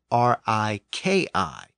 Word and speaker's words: riki: the Anglo-Saxon sound shift was spelled r i k i and was pronounced as Riki with a k sound but remember in Old